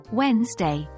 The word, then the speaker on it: Wednesday: day the second working day Wednesday but it's pronounced Wednesday a little tricky isn't it Thursday Thursday day